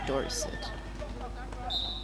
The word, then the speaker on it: Dorset: And then Rosie playing for Dorset. Am I pronouncing it right? Dorset? Dorset, right? Dorset, yeah.